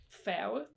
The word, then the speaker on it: færge: So ferry in Danish is færge. Færge. So kind of close. It's just like the way that we spell it, because the G it looks like it's gonna be hard, but it's actually just like it's just changing the sound, and again, it doesn't make sense.